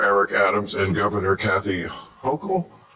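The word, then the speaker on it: Hochul: Uh, what do you New Yorkers think of how Mayor Eric Adams and Governor Kathy Hokll Yes. Yes, you pronounced it right.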